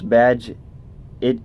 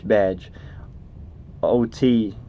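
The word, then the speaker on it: Bagehot: the great Walter begat begat pronounce badge it in an American English badge ot in Britain a Shibboleth of sorts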